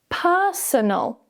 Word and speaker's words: personal: With the first one, the stress is on the first syllable. Personal. So we have two weak schwa sounds there. Personal. Notice I'm not really moving my mouth.